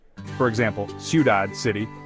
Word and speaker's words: ciudad: The stress is naturally on the last syllable. For example, ciudad, city, comer, to eat.